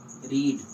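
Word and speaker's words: read: रीड रीड रीड रीड sorry रीड रेड रेड रीडिंग okay first form को हम लोग रीड पढ़ते हैं।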